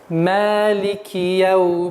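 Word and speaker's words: مَالِكِ يَوْمِ الدِّينِ: В данном случае, в этом аяте, при произношении этого аята, нужно обращать внимание на мягкое произношение, так как ни одного твердого звука в этом аяте не существует. Итак, читаем. Малики яумиддин.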